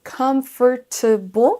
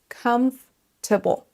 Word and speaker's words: comfortable: Ce mot se prononce en fait comfortable. Comfortable. Il y a une syllabe qui va être mangée, qu'on ne va pas entendre. Et pensez bien à accentuer sur la première syllabe.